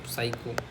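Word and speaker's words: psycho: वाई सी एच ओ साइको रटोगे physics spelling जैसे से बनता नहीं है पी एच वाई एस नहीं थोड़ा फिजिक्स अलग हो जाएगा साइको या पी साइलेंट है बस इतना याद रखो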